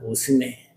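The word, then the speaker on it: ὀσμή: 본문에서 사용하고 있는이 향기라고 하는 단어는 오스메라고 읽습니다. 오스메. 그런데이 말도 단순하게 그저 코로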